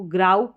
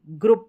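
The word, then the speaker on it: group: इसको ग्राउट नहीं ग्रुप पढ़ा।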